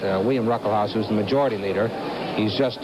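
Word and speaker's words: William Ruckelshaus: his second term is running behind the Republican William ruckle house the uh first s in his name is pronounced it's it's silent William ruckle house who's Majority Leader he's just uh 35 years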